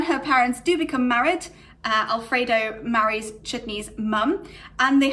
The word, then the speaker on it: Alfred0: And quite often, most of the time, that's pronounced as Alfredo. So he's known as Alfredo.